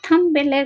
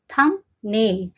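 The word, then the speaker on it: thumbnail: সেটা থাম্বেলের ক্ষেত্রে সামনে আসবে। থামনেল শুনতে একবার কি লাগে? থামবেল। কিন্তু না থামনেল।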